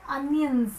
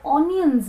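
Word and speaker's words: onions: तो प्याज को इंग्लिश में अनियंस कहते हैं। अब स्पेलिंग अगर आप देखें तो इसमें ON आता है, लेकिन फिर भी आप इसको ऑनियंस नहीं कहेंगे, आप कहेंगे अनियंस। It's subtle and it's simple, अनियंस।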